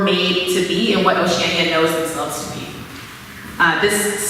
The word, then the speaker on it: Oceania: That's why it's pronounced Oceania, and I'll show you in a minute what it looks like in spelling, Oceania.